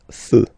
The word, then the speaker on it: feux: You don't put S, but you will put X instead, and then you don't pronounce it. Des feux, un feu, des feux.